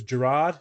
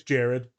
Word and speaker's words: Gerard: Like the other day, I said it was Gerard. He's like, it's Jared.